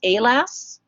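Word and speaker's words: AALAS: science you should know the abbreviation a ALS is pronounced a lass a a la s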